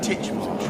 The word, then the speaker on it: Titchmarsh: I'm here to channel my inner Titchmarsh, and no, the emphasis isn't on the first syllable, shut your disturbingly square